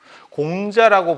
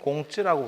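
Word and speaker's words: 孔子: 선생님도 그 얘기를 했었어요 공자라고 부르지 말고 공치라고 불러라 중국 사람이니까 중국 발음으로 불러 줘야 되는거다 중촌원이라고 부르지 말고 나카무라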